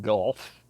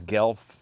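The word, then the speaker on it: Guelph: word i think it's gelf something like that but it's spelled g-u-e-l-p-h um if you try to pronounce it phonetically the way it's spelled it'll sound like you're throwing up or you've got a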